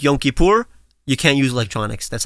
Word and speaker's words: Yom Kippur: Yeah, Yom Kippur.